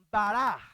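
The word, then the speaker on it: ברא: La palabra hará en hebreo se dice bará.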